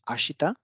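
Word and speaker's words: あした: आशिता में अब शी और ता यानी कि श और थ, इन दो ध्वनियों के बीच में ई है, इसलिए ये लगभग मौन हो जाएगा और इसका उच्चारण होगा आश्ता।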